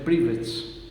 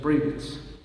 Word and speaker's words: Prevost: Este Robert Francis se escribe prevets y se pronuncia privat. Esa es la pronunciación privat.